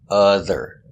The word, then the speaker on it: other: It's spelled with an O, but pronounced other.